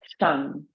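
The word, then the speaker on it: Kshang: Seed syllable for this chakra is Shang, K-S-H-A-N-G.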